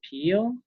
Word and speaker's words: Peele: Peele? Correct. Mr. Peele.